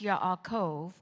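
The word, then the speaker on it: יעקב: not rightly named Jacob now it's pronounced Yakov and it means tricker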